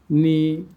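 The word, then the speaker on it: know: English ওয়ার্ডে এন এর আগে কে থাকলে কের উচ্চারণ সাইলেন্ট থাকে, অনুচ্চারিত থাকে। নি, not, NEET, নো, night, knife, নলেজ। আমরা এবার অর্থগুলো শিখি।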